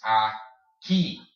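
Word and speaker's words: aquí: you an example word the word for here as in like right here--like your location is aa key okay the qu I'm making the key sound or the word for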